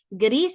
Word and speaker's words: gris: Miren, gris se dice gris porque no se pronuncia la S final, igualito, como en español.